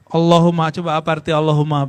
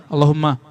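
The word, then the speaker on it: اللهمّ: Kalau ada tasdid begini, ini dipanjangin gak aslinya? Allahumma. Ya kan? Tapi antum kalau bacanya gimana? Allahumma. Salah itu. Kalau mau dapatkan rahasia baca Allahumma, hum-nya dipanjangkan. Allahumma. Ini yang malah salah. Di Allah-nya dipanjangin. Allah.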